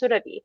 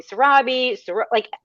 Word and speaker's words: Surabhi: So when I went to university, I never corrected people on how my name is actually said. My name is Surabhi. I let people call me Surabhi, every other pronunciation except for my name, because I was playing small.